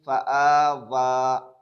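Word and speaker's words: فَآوَىٰ: बाद जो या है, ये या एक एतबार से साइलेंट है, इस या को पढ़ेंगे नहीं। यतीमन फ़आवा लिखा जाएगा ये या, लेकिन पढ़ा नहीं जाएगा। मन दखलहू, मन दखलहू, नून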